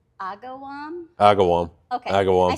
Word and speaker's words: Agawam: No, it's Agawam.